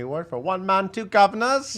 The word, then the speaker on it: Guvnors: He won a Tony Award for One Man, Two Governors. You have to say it like that.